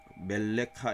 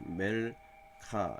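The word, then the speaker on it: מלכה: 되고 이게 멜렉 왕인데 여왕하면 멜렉 멜레카 이렇게 하면 발음하기 쉬운데 음절이 멜카 이렇게 그려지잖아요 그러니까 이것도 마찬가지야 잘못했어도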